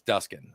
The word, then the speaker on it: Duskin: to be called and the person pronounced it the same way that you did and I stood up and my dad said it's it's duskin I was like Dad